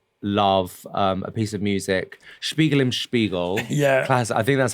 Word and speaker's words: Spiegel im Spiegel: So I have chosen a song that I love, a piece of music, Spiegel im Spiegel. Yeah. Classic. I think that's how you pronounce it.